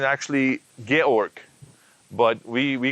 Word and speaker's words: Georg: was he's german and his name pronounced correct pronunciation actually georg but we we called him george and he figured out that this is the